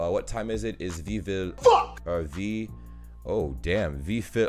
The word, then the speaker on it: wie viel: Is wie viel? Fuck! Wie viel? Also, your V's are F's.